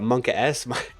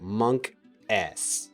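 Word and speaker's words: monkaS: A buddy of mine didn't know like how to pronounce that, and he was like Monk S. And I'm like, no, that's not it, bud. You got it wrong.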